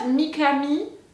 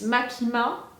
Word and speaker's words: Makima: with her name is it's not mikami so it's makima but is it no